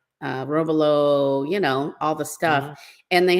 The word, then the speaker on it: robalo: Without wanting to sound like a bit of an a-hole, well, actually, it's robalo.